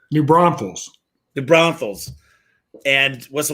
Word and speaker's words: New Braunfels: i was based in new brunsville's i don't know if i said that right you're close get close how do you say it new braunfels the brownfields and what's